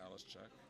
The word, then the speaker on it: Halischuk: Halischuk. Chak. Chak. Yeah. Okay, so I'm going to Halischuk. Halischuk. If you pronounce it fast, it's Halischuk.